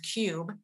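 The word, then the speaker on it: Qube: a brand new app called Cube, and that's spelled with a Q, so Q-U-B-E. And what this is it's a digital cash envelope app.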